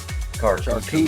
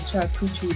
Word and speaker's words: charcuterie: I love me a good charcuterie board. Yeah. Charcuterie, just to let you know that I know how to say it right.